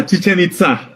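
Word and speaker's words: Chichén Itzá: cancun there's a uh chichen itza is that how we pronounce it uh chichen itza yeah yeah yeah you got it but that's exactly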